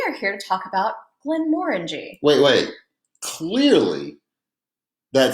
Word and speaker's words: Glenmorangie: reality it's actually pronounced Glenmorangie I mean more than orange Glenmorangie hey hey hi hey